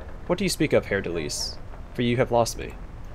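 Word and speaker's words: Haer'Dalis: I know that it's now pronounced Hair Delise because that's how she pronounced it.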